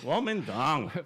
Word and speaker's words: Kuomintang: Kuomintang.